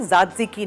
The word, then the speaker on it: tzatziki: टी से आता है लेकिन वो टी साइलेंट है, ज़ात्ज़िकी नाम है, और वो दही के साथ बनता है।